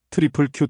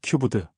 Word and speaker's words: QQQ: 발음하면 트리플 Q 또는 큐브드. 월스트리트에선 그냥 Q라고 부릅니다.